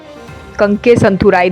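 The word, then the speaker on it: Kankesanthurai: ठीक है, कंके संथुराई, that's the correct pronunciation basically.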